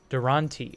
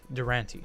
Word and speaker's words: Durante: see you all tomorrow his name is pronounced as look Durante oh not Durant Durante okay James Durante or